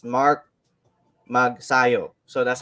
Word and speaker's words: Magsayo: are actually pronouncing his name and his last name wrong it's it's ma it's mark mag sayo so that's how they say it uh yeah